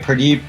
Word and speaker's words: Purdeep: Purdeep, and then last name?